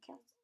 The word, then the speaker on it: quel: use one of the quels from the table below. And remember, it's pronounced the same way, quel, however it's spelled.